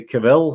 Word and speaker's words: Cavill: Lauren Schmidt stars Henry Cavill Hook FL how you pronounce supposed to pronounce it Charles rhymes with travel so Henry Cavill yeah